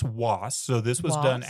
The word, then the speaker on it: Wace: It's usually pronounced Was.